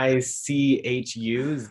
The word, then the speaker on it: Xichu: Zichuensis, Zichuensis, Zichu. It's Xichu, Zichu. I think I've asked a native speaker if that's how you say it, and I believe that's what they said.